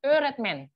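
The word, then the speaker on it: öğretmen: Ingat tadi G bertanduk nggak dibaca kan?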